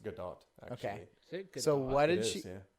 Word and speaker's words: Gadot: avoided all of this it's pronounced good dog okay so what did she know I don't think it's heart it's a heart T no it seriously it is it's Israeli it's good dog hmm it's not French